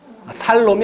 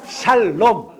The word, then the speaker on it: 샬롬: 살롬이 아니고 샬롬.